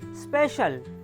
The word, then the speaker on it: special: SPECIAL, এই শব্দটিতে সিও মাঝে আছে এবং সি এর পর আই আছে, তাই এখানেও সি এর উচ্চারণ তালব্য এর মতো হবে। তাই এই শব্দটির উচ্চারণ হবে স্পেশাল।